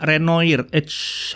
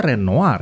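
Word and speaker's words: Renoir: tujuh 4800 hack-code NEMnya renoid harusnya renoar ya bacanya Ya sudahlah apapun lah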